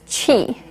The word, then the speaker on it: qi: The first word you need to know is qi. It's spelled Q-I.